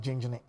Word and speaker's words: Jenejene: I know it's pronounced Jenjene.